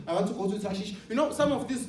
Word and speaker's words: Tarshish: That's a correct pronunciation. Eh? Yeah, Tarshish. It's like I'm going to Tarshish.